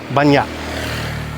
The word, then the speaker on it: banyak: So, the word meaning many, which, if you're reading it off the page, would be banyak, you kind of swallow that K and it's banyak.